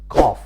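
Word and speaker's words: قاف: Qaf is pronounced almost like the Q in English.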